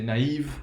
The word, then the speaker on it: naïve: In French, you're going to say naïve, and that's going to be a two-syllable word, right? We have two different vowel sounds, and each one is its own syllable.